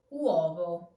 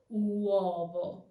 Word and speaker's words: uovo: Uovo. Remember what I told you? The weak U turns into a W sound. So not uovo, but uovo. Uovo.